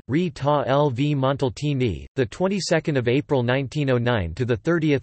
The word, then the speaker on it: Rita Levi-Montalcini: Rita Levi-Montalcini, Italian pronunciation, Rita Levi-Montalcini, 22 April 1909 to 30 December 2012, was an Italian Nobel laureate, honored for her work in neurobiology.